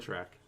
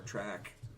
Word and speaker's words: Trek: He said track. Don't say track. Star Trek. Trek or track? Trek.